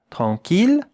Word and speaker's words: tranquille: Et maintenant, regardez comment cela se prononce, avec une voyelle nasale. En, un son nasal. En. Tranquille.